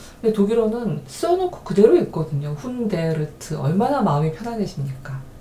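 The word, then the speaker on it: hundert: 자, 그 다음에 100은요 100인데 이게 독일어에서는 훈데아트 이렇게 된다는 거죠.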